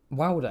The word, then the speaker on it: Walda: Wilder. In the show, in the TV show, they differentiate it by saying Walder for the men and Wilder for the women.